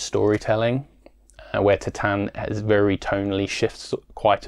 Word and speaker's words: Titane: And as I said, Titane, I keep trying to say Titane, but the actual pronunciation of this film is Titane, is very much about love and identity.